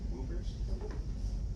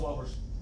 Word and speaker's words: Whoppers: They're pronounced Whoppers.